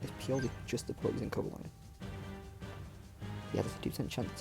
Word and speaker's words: Cobalion: Now, with Cobalion here, or Cobalion, I'm going to stick with Cobalion because I'm pretty sure it's more name pronunciation.